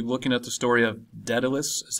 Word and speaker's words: Daedalus: going to be looking at the story of Daedalus is how you pronounce that and it looks like Daedalus but